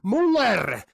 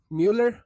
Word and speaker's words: Müller: Mueller. Müller. Mueller. How do you pronounce it in German?